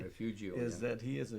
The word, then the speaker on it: Refugio: pronounces right correctly, Refugio, is that he is a Vietnam veteran back in the day, as I am too.